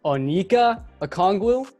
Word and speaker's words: Onyeka Okongwu: don't know how to say his first name, Onyeka Okongwu.